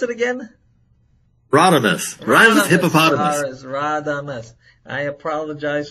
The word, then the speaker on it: Radames: Pronounce it again. Radames.